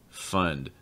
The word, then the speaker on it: fund: For instance, a lot of people have some difficulty pronouncing the difference between fond with an ah sound and fund with an sound. Fond, fund.